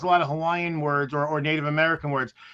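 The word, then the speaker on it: Hawaiʻi: are spelled using the German alphabet so you pronounce things so it's not Hawaii it's Hawaii Hawaii right right and actually both eyes are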